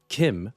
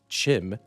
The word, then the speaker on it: CHIM: Kim, or as some outlanders tend to pronounce it, Chim, is a sort of transcendence to an uplifted existence or state of mind.